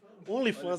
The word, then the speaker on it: OnlyFans: Como é que pronuncia? Online fan? Online fans? Como é que é? As meninas... OnlyFans.